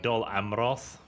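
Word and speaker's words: Dol Amroth: right we're going to make our way to dulham roth we're going to go to ministers oh wow actually kyle is pronounced like doll amroth there is quite a few little gondorian stacks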